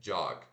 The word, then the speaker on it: jog: Então, jog se escreve J-O-G, né? Como se fosse jog, mas se pronuncia o D e o J de janela, tá? J. Esse aqui é o A que a gente engole a nossa língua.